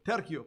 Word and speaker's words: Tercio: Tercio, ¿por qué lo pronuncio Tercio? Porque es un nombre latino. Y la C en latín suena como una K.